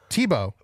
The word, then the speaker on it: Thibault: Tebow, spelled like Thibault, but they provided the pronunciation for me.